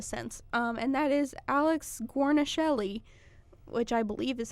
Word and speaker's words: Guarnaschelli: child in a sense and that is Alex Guarnaschelli which I believe is how you pronounce that last name we're gonna hold yeah